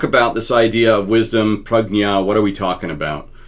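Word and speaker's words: prajñā: I know it looks like prajna when you see it, but it's actually pronounced prajna, prajna.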